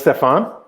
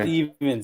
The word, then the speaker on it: Stefan: what do you mean that's stefan stefan yes it's definitely from he's like it's not even stephen come on i